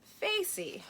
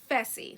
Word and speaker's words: Fessy: Would you be able to get into the hot tub with Facey or Faisal? And I'm just like, damn. I know I'm saying his name wrong. It's Fessy. That's his name.